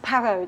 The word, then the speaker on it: Parrot: no no not not parrot PA are are ot yes but it's pronounced perro the T is silent peril okay miss peril